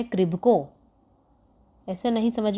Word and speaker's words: KRIBHCO: है वो नहीं है, इसकी सही स्पेलिंग है KRIBHCO, इसे बोलते हैं क्रिब्को।